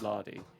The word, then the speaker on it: Lady: It's spelt lady, but pronounced lardy, and Okay.